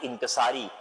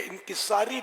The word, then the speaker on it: انکسار: Manage کرنا پڑے گا۔ پہلے تو وہ تلفظ کے لیے انکساری لفظ ہے، یہ اہل لغت کے نزدیک غلط ہے۔ انکسار جیسے عجز و انکسار، تواضع، عاجزی، یہ درست۔ خیر، تو اب ویلیو